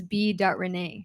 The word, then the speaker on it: B. Renee: But my artist name is B. Renee. So, but it's just pronounced B Renee, but it's my uh my first initial, my middle name.